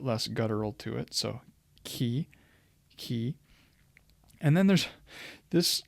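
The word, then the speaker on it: chi: a little bit less guttural to it so key key and then there's this letter which is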